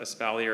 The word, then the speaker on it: espalier: I always wanted to do this when I was So, espalier. Yeah. E S P A L L I E R. How's it go? Espalier or Espalia is spelled especially.